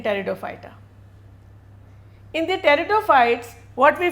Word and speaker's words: Pteridophyta: erect they remain flat p is silent in pteridophyta in the territophytes what